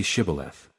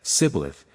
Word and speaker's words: Shibboleth: If he answered, "No," they told him, "Please say Shibboleth." If he said, "Sibboleth," because he could not pronounce it correctly, they seized him and executed him at the fords of the Jordan.